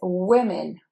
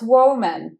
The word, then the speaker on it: women: Number 34, this is women, women, not woman. No, we don't want to hear that.